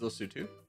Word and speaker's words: Lesotho: Wait, is this Lesotho? Is this Lesotho? Which is, yes, that's the correct pronunciation of this is Lesotho.